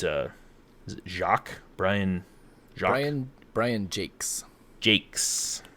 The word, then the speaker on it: Jacques: jacques brian ryan brian jakes jakes it's spelled j-a-c-q-u-e-s but he's uh scottish so it's just jake's just cues jake yeah so i mean